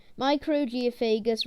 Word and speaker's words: Microgeophagus: ram cichlid scientific name microgeophagus ramirezi pronunciation micro geophagus ramreezy size to four centimeters